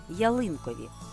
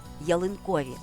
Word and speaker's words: ялинкові: слові уважні помітили що у першому випадку я наголосила на другому складі ялинкові тут же виділила третій склад ялинкові і це не є помилкою адже слово має подвійний наголос ялинковий і ялинковий тож кульки вважаються символами